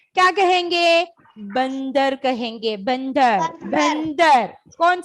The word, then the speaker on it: बंदर: के पहले अंग आएगा, तो हम इसे न कहकर प्रोनाउंस करेंगे, न न न।